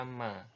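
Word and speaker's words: مَ: Huruf mim ini kalau ada fathah di atasnya dibaca ma ya. Ma ini diucapkan dengan cara merepatkan dua bibir ya.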